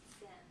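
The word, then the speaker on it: 先: Okay, and this one is just pronounced as sen, being sensei means teacher.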